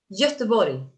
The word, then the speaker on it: Göteborg: Göteborg. Gothenburg. Wow. Very good pronunciation. Very was good. Was it? Yeah, yes, it was. No, you did well. We learned Danish in school. Göteborg.